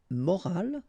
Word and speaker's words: morale: but in that case you've got this at the end, which is silent, so you don't pronounce it, so clearly it is